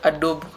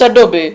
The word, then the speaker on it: Adobe: It's Adobe. Yeah. Okay. I tend to have a problem with saying Adobe because the E doesn't have an accent. So I assume it is silent.